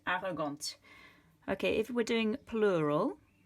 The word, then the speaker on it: arrogante: If you add an E after a consonant, you're going to pronounce it. So this one, you're describing, for example, your brother, il est arrogant. If you're describing your sister, elle est arrogante. Okay, the E makes the T be pronounced, arrogante.